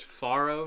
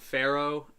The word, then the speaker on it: farro: of um we have i believe this is pronounced farro not pharaoh which is actually a kind of grain pharaoh